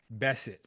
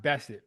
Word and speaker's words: Bessent: Treasury is Scott Bessent, or is Hmm. that how you pronounce his last name? Yeah, that's it. Yeah, Scott Bessent, very smart individual.